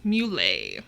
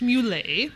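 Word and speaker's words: Mulé: So our next mystery is a wanted, and it's Charles Muley, whose name is spelled mule, but it's pronounced Muley. I know, I really want to call him Mule, because also...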